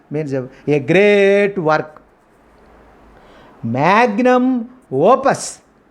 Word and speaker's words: magnum opus: And next foreign expression or vocabulary is magnum opus. This is the means of a great work. Magnum opus. We should stress second word.